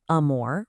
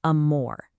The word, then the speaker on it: amor: Now listen closely to the phonetics here. Amor. Notice exactly where that emphasis lands. It's not amor, right? It's amor.